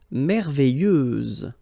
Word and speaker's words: merveilleuse: Merveilleuse, so final S, and then, what a surprise, you don't pronounce it.